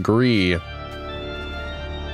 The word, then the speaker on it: Gris: in spanish and then i think gree is the friend's pronunciation which also means gray but the s is silent from what i remember